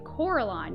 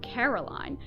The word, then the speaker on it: Coraline: name wrong you know they kept saying coraline not caroline not caroline at all he picked up a